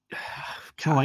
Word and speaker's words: Choi: As such, it does seem like this information conflicts with previous statements, though perhaps Choi. Joy God. that's how you pronounce it. It's joy.